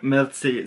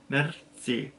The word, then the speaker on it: merci: Mitzi, so you kind of have a little tongue roll in the middle, but not really, so you say Mitzi, and then merci beaucoup is thank you, thank you very much.